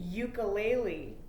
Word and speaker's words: ukulele: Same with the word ukulele, okay, that like a little guitar thingy. Ukulele, it starts with a U, but it's a y sound at the beginning.